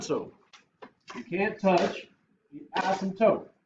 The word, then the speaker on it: asymptote: Not asymptote, okay? By the way, Asymptote. the P is silent, like in pterodactyl.